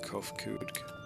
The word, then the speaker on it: Kofkuj: As for nomenclature to address my individual person, I believe it would be pronounced Kofkuj.